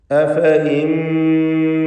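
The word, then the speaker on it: أفإين: യഥാർത്ഥത്തിൽ ആ യാ ഒരിക്കലും ഉച്ചരിക്കപ്പെടുകയില്ല എന്നതിൻ്റെ സൂചനയായി അതിനു മുകളിൽ ഒരു പ്രത്യേക ചിഹ്നം വൃത്താകൃതിയിൽ നൽകിയിട്ടുണ്ട്. അത് സൂചിപ്പിക്കുന്നത് ഉച്ചാരണത്തിൽ ഈ യാ ഉണ്ടാവുകയില്ല എന്ന് തന്നെയാണ്. റസ്മിൽ വന്നിട്ടുള്ള യാ അതിന് പ്രത്യേകിച്ച് വിധിയൊന്നുമില്ല. അഫ ഇൻ എന്ന് തന്നെ വായിക്കേണ്ടതാണ്.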